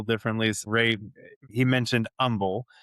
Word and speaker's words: Humble: So Ray, he mentioned Humble. So the H is silent. So it's spelled as humble, but it's pronounced Humble for those That's that are right.